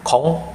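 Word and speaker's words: không: Nah, terus saya juga menemukan komen dari kalian, ada yang menanyakan, Kak, kenapa kalau kata kong dibaca kom, terus cong jadi com?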